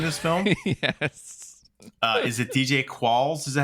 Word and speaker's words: DJ Qualls: Is it DJ Qualls? Is that how you pronounce his name?